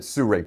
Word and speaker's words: Sirui: is pronouncing this company I will call this suray I have been argued with several times on the pronunciation of this I have listened to people from the company pronounce this and while their accent is much different the closest I can get to it is Su right it might be C Ray it's close I'm calling it Suri please don't say anything